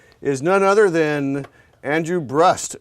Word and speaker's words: Brust: none other than Andrew brust it rhymes with the trust that's the good naman